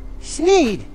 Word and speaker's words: Sneed: The shop is called Sned's Feed, Seed, where feed and seed both end in the sound hid, thus rhyming with the name of the owner, Sneed.